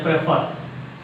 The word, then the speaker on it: prefer: Some disyllabic verbs take stress on second syllable. Disyllabic verbs. The first one here, prefer.